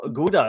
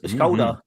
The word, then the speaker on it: Gouda: Gouda is Dutch. It's koda technically. Koda is how we pronounce it.